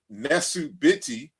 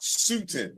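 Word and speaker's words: nesu-bity: know that for example the word is nesubiti as far as the king and not sutin as in Sarah suit and seti the reason why we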